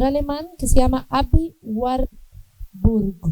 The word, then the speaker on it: Warburg: que se llama Abby War. Burg, se escribe war y después burg como hamburguesa. Así me lo aprendí yo porque siempre lo pronunciaba mal.